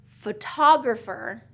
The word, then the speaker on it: photographer: And then photographer, photographer is going to be second syllable stress.